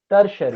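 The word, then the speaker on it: tertiary: Example देखो, bank, sir इसका bank है, प्रोनाउंसिएशन क्या है टर्शरी, थर्ड वाले का? टर्शरी, टर्शरी, ये टी जो है सा की साउंड निकालता है, टर्शरी।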